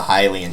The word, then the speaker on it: Hylian: And technically, you don't need to have the Hylian Shield or Hylian Shield. I'll probably just call it Hylian for those of you that don't like that pronunciation.